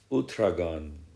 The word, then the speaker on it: Uthragan: Uthragan. Uthragan. Or, yeah, I think more appropriate according to my understanding and pronunciation capabilities is Uthragan.